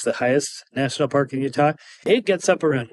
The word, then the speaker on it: Utah: like most Outsiders so Utah Utah this is how we say it s and my take on this is that Zion National Park is in our state so the way the locals say it is the correct way okay the next mistake